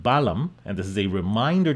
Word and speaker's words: balam: This is not pronounced Ba-Ba-Lam. This is pronounced Balam.